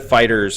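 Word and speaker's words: FighterZ: No, they said Fighters is how it's pronounced. That's how Namco themselves said it.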